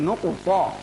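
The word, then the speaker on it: নুক্তা: নক্তা বলা যাবে না, নক্তা বললে ভুল হবে। প্রিয় দর্শক, আমাদের মাঝে কেউ কেউ আছেন বলেন নক্তা। নক্তা বললে ভুল হবে। এটি একটি আরবি শব্দ, আমাদেরকে শুদ্ধভাবে বলতে হবে। উচ্চারণ হচ্ছে নুকু প, নুকু প, নুকু প।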